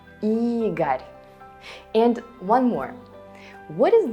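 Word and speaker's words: Игорь: Because in all of them, O is not stressed. And what does it mean? Right, you read it as A. Boris, Oleg, Igor.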